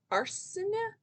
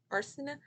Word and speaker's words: Arcineh: So, okay, so this is about a girl named Arsina. It's spelled Arcineh. Arsina.